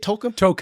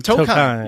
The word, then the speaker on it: Tokheim: Is that how you say it, Tolkien? Tokheim. Tokheim. Yeah.